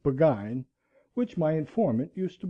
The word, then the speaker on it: Burgoyne: Nutting had a famous foxhound named Burgoyne. He pronounced it Buggine, which my informant used to borrow.